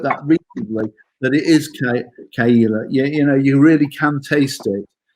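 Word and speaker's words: Caol Ila: And I think I wrote that recently, that it is Kaila.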